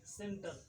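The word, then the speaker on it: centre: ये आपको याद रखने योग्य बात है कि सी के बाद अगर ये रहे आई ई वाई रहे तो सी को स पढ़ेंगे। जैसे है कि सी ई एन टी आर ई सेंटर है ना, सी वाई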